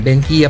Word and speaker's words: Benkia: So guys, pagkakailangan nyo ng mga Benkia, yan, Benkia pala ang tamang pronunciation doon.